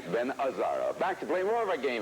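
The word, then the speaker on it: Gazzara: it Ben gazar if you were Italian you would have known that you don't pronounce the G that's right Ben azaro back to play more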